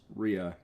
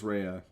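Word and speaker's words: Rhea: friend of mine said no that's not how you pronounce Ria it's Ria not rehea but no it is rehea then we have oranos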